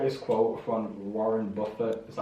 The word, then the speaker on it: Buffett: But like I like this quote from Warren Buffett.